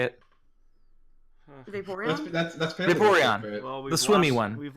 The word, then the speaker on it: Vaporeon: That's Vaporeon.